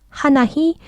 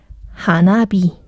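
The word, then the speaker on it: 花火: 하나희 발음이 좀 세니까 하나비.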